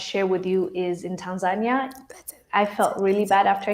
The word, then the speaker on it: Tanzania: story about how Tanzania, I love the way Africans say, well, they're saying it right. I guess I'm the one saying it wrong when I'm saying Tanzania. No, it's Tanzania. Say that shit right.